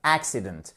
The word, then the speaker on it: accident: exactement et voyz accident vous avez accentuation sur la première syllabe accident AC number 13 exactement